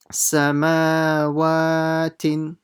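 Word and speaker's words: سماوات: Okay, now here the mim and the wa will be stretched. Nothing else. Sa, ma, sama, wa, samawatin, samawatin. Okay, again, make sure you stretch the mim and the waw the same amount.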